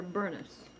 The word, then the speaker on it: Bernice: They called her Bernest. That's the way they pronounced her name.